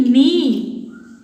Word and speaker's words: knee: The letter K is silent in the word key, knee.